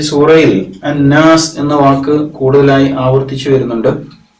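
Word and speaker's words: النَّاس: ഈ സൂറയിൽ പ്രത്യേകിച്ച് ശ്രദ്ധിക്കേണ്ട ഒരു പാരായണ നിയമം ശദ്ദുള്ള നൂനാണ് നൂന് നൂനിന് മുകളിൽ ശബ്ദ് അപ്പൊ ഇങ്ങനെ വരുമ്പോൾ അത് നന്നായിട്ട് മണിച്ച് ഉച്ചരിക്കേണ്ടതുണ്ട് ഇങ്ങനെ മണിച്ച് ഉച്ചരിക്കാൻ വേണ്ടി പ്രത്യേകം ശ്രദ്ധിക്കണം നമ്മുടെ മൂക്കിന്റെ മുകൾ ഭാഗത്ത് ഉറച്ച മൂക്കുണ്ടല്ലോ ഉറച്ച ഭാഗത്തിന് തരിമൂക്ക് എന്ന് പറയും ഹൈഷും എന്നാണ് അറബിയിൽ പറയുക അപ്പൊ ഈ ഭാഗം കൊണ്ട് കുറച്ചുനേരം ഒന്ന് മണിച്ച് പിന്നെ നല്ല വ്യക്തതയോടുകൂടി മനോഹരമായിട്ട് പാരായണം ചെയ്യാൻ ശ്രമിക്കേണ്ടതുണ്ട് അപ്പൊ ഈ സൂറയിൽ അന്നാസ് എന്ന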